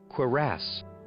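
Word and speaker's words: cuirass: I saved a katana or 100 gold or a curus. Curus. I'm not sure how to pronounce that. How do you pronounce this? Quarass.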